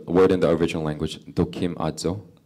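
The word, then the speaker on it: δοκιμάζω: It's the word in the original language, "dokimazo." 예, 도키마조. "Dokimajo." 예. 뭐 굳이 발음까지 기억하실 필요는 없고 그 의미만 기억하시면 돼요.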